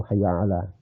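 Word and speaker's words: حَيَّ عَلَى: Al itu Hayya ala Ain juga Ain kadang-kadang orang membaca Ain itu setengah-setengah bainaina di antara Hamzah dan Ain itu gak cukup harus dibaca Ain itu Hayya ala terus Shah Shad Shah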